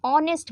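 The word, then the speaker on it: honest: ही इज़ एन ऑनेस्ट मैन। यहां पे दिक्कत होती है ना भाई। एच देखा नहीं कसोनेंट है वो ए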